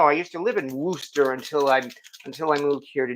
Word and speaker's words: Worcester: It's pronounced Worcester in Massachusetts, and I should know. I used to live in Worcester until I moved here to New York.